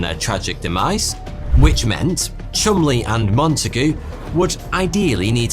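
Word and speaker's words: Cholmondeley: intelligence officers Charles Chumley, yes, weirdly that is how you pronounce that, and Euan Montigue were tasked with overcoming those little challenges.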